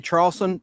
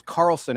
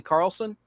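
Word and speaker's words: Charleson: I said Leslie Charlson. The H is silent. Her name is Carlson, actually. Leslie Carlson, who's on your screen.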